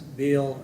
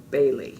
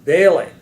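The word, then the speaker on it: Behle: It's the Germanic spelling and pronunciation. So Parsons, Bailey, and Latimer.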